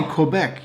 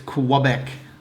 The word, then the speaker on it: Quebec: how you say it if you're English you say Quebec you don't say Quebec Quebec it's qubec even though that's wrong what city with